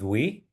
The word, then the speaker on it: Wii: met us yet again my name is Wii uh you can think of it as Nintendo we or We the People whatever makes you uh easier for you to pronounce my strangely spelled name and Amy and myself